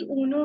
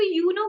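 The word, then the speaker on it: Uno: है, उसका नाम है ऊनो। अब मुझे बताओ, जब उसकी स्पेलिंग ये होती है तो उसको यूनो क्यों नहीं बोलते, ऊनो क्यों बोलते हैं?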